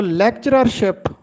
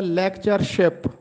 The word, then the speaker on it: لیکچرشپ: درست تلفظ ہے لیکچرشپ۔ اکثر لوگ اس کو لیکچررشپ پڑھتے لکھتے اور بولتے ہیں جبکہ درست تلفظ ہے لیکچرشپ۔ دوسرا لفظ ہے اکیاسی۔